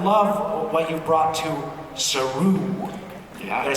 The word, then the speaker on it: Saru: What you do is just singular, and I love what you've brought to Saru.